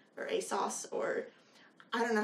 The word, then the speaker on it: ASOS: world I think um British people say like a sauce I Asus a sauce